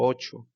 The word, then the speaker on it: ate: el pasado es que el sonido es exactamente igual como el número 8 y se escribe a t entonces vean ese cambio tan